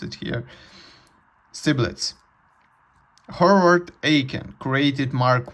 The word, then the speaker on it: Stibitz: I I mispronounced it here. Stibitz.